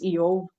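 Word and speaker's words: איוב: His name in Hebrew is pronounced as Eov, meaning persecuted one.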